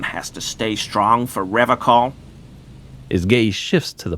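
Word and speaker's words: Revachol: But someone has to stay strong for Revacol. As gaze shifts to the pile of soggy logs at his feet, he pronounces Revacol with a hard K, unlike other people.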